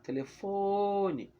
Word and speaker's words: telefone: Por exemplo, telefone está longe, eu preciso chamar telefone. Ó, já sei que a sílaba que eu demorei mais falando foi fo. Então, fo é a sílaba tônica.